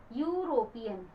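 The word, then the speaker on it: European: Well दोस्तों, जैसे कि आप देख रहे हैं यहाँ पर लिखा हुआ है ई, यूरोपियन, लेकिन उसका उच्चारण प्रोनाउंसिएशन उसका य से शुरू है।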